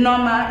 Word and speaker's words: Nneoma: Noma is the actual pronunciation because okay. I am Igbo.